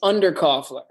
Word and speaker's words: Underkofler: do it wrong uh it's under cofler okay under cofler which is uh it derives from this German word called un which meant